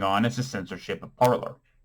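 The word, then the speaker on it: Parler: is the censorship of parlor or parlay if you wanted to pronounce it with the french terminology which i think is what it's based on you know that's just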